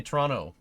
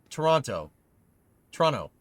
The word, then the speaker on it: Toronto: Do you pronounce the second T in Toronto? I don't. Now I'm wondering. Toronto.